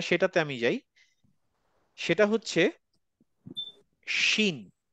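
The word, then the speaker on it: ش: এরপরের যেটা সেটাতে আমি যাই, সেটা হচ্ছে শিন। শিনটা হচ্ছে বাংলা তালব্যস্বর মতো।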